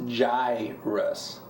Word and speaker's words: Gyruss: a tappy game it's pronounced J Rus oh not like not guy like G Russ it's pronounced the way you are not saying